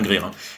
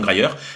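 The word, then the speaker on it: Grier: Pamir hein qui était oui parce que je prononce Gryer Gre je pense que c'est Pam Greir qui avait été une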